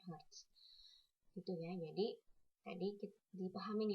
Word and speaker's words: Hz: se kemudian dinamakan herz atau disingkat Hz dibacanya herz gitu ya jadi tadi